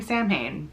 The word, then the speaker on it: Samhain: So the first one is the Sam Hain project. Yes, I know it's pronounced Samhain, but I thought it was funny to name my witch character after a very common misspelling.